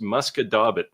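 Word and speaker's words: Musquodoboit: this would be pronounced muscadabit. Your wife would probably say something like muskadis, except it's a t, not an s at the end.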